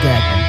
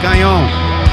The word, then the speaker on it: Gagnon: Stress on the first syllable. Dr. Gagnon. If you want to do it the French way, Gagnon.